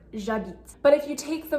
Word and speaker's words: j'habite: front of it, but the H is muet, it's mute. This means that if you were to say I live or I'm living, j'habite, you have J apostrophe habite, j'habite. And you can hear it sounds like one word, j'habite.